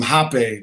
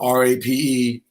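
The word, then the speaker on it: rapé: And also, he blew some hape, which is spelled R-A-P-E, not to be confused with rape.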